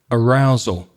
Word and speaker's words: arousal: Arousal. And there's that uh at the end, that schwa sound again in these words. Make sure you're practicing that schwa.